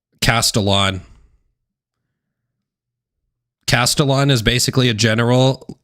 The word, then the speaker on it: Castellon: It's pronounced Castellon.